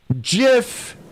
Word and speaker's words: GIF: go the creator of the gif says that jiff is pronounced like jiff peanut butter i'm sure you're